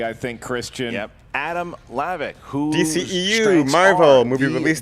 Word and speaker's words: Hlavac: Just don't say the H.